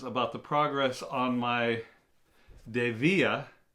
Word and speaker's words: Dievier: DEA boots and he was wondering how to pronounce it too uh Mr Rose Anville it is DEA and thank you for the love I enjoy